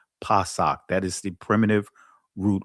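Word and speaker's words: פסח: understand what Pac is, that's the Hebrew, the ancient pronunciation of the word Passover, where the word Passover comes from is Pac. I know many of you guys may say Pesak. The actual ancient Hebrew pronunciation of it is Pac.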